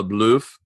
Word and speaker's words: LaBeouf: Yeah, Shia LaBeouf.